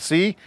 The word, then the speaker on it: CI: You got a product called C, CI, it's labeled C and an I called C, pronounced C.